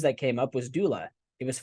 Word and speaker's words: Doola: And then one of the names that came up was Doola. It was 5 letters. It was the .com, had 2 O's like Google. And some folks said, hey, it sounds like the word doula, Doula, who is someone who